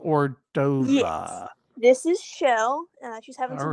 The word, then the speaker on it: Chell: Yes, it's actually Shell. Excuse me. She's named after the character from Portal, but we found a Shell gas station, so it's spelled like. Oh, okay, I got Shell, you. But we say it like Shell.